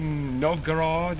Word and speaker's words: Novgorod: And go to the Café Novgorod, is that the way you pronounce it?